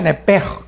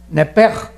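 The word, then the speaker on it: נפש: Se pronuncia nepej, porque la CH en hebreo es j, nepej, y la palabra espíritu es ruach, se escribe ruach.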